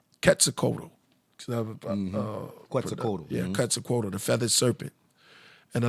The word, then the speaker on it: Quetzalcoatl: Now a lot of them is let me say it right, Quetzalcoatl. Quetzalcoatl. Yeah, Quetzalcoatl, the feathered serpent.